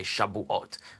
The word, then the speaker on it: Shavuot: and in the syrian tradition they would say shabu-at with a bet as opposed to a vet according to syrian hebrew